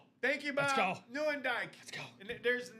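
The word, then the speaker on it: Nieuwendyk: Joe Newendike. Newendike. Thank you again, Bobby Boule and Rob for the right pronunciation on that.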